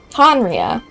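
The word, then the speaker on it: Khaenri'ah: Oh yeah, after we've dealt with the monsters, we should ask her to tell us more about Conria. Henria is how you say it.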